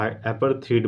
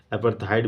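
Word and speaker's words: apartheid: तो इसको हम एपरथ एपरथिड बोलते हैं या एपरथाइट भी लोग प्रोनाउंस करते हैं। तो इसको मैं एपरथडी बोलूंगा। ए पी ए आर टी एच ई आई डी एपरथिड।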